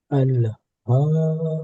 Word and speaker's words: ألهاكم: ألهاكم التكاثر. এখানে হাটা গলার শুরু থেকে উচ্চারণ হয়, আমরা সবাই জানি, একদম এই গলার এখান থেকে একদম গলার শুরু যে নরম মাংস।